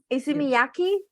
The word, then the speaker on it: Issey Miyake: How do It's you a- how do we pronounce it? Easy. I listen. It's a Miyaki. Issey Miyake.